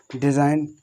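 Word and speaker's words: design: आगे देखो आठवां हमारा बोल रहा है कि यदि एन से पहले जी आ जाए तो जी हमारा कैसा रहता है, जी हमारा साइलेंट रहता है, किस रहता है, जैसे रैन, साइन, डिज़ाइन, रिजाइन, सब चीज़ बताई दी, इसकी बताई दी।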